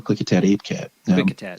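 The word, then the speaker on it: Klickitat: panther creature right that we call the click attack that's how you say it quick attack yeah so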